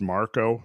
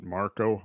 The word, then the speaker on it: Markle: It's actually pronounced Marco. It's spelled Markle, but they pronounce it Marco.